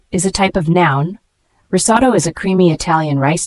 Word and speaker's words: risotto: Risotto is a creamy Italian rice dish cooked with broth. The pronunciation is risotto.